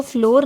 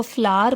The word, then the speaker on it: flour: इसको फ्लोर नहीं पढ़ते, इसको फ्लावर पढ़ते हैं. इसकी करेक्ट प्रोनाउंसिएशन जो है वो फ्लावर है, मीन्स आटा.